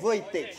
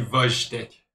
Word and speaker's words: Wojtek: Ta mère t'a appelé Wojtek. Madou, on dit Vojtek. Pardon, c'est mal prononcé.